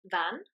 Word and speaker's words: fan: fs in wellsh so if you see a single F on its own it's the same as a v sound in English like in Van okay now if you